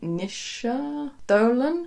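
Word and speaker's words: Naoise Dolan: I also do quite enjoy, I think you pronounce it Nisha Dolan.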